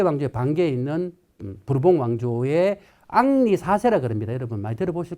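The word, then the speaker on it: Henri: 그래서 이제 카페 왕조에 반계 있는 부르봉 왕조의 앙리 사세라 그럽니다. 여러분 많이 들어보실 건데. 앙니 앙리니 뭐 앙리여 프랑스 발음으로 앙리가 되고 어 영어로 발음이 여러분 헨니 예 독일어는 하인니 동일한 이름입니다.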